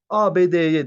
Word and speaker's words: ABD: büyük harflerle yapılan kısaltmalarda büyük harflerle yapılan kısaltmalarda her harfi Ben harf şeklinde telaffuz ediyorum ABD'ye diyorum ya da burada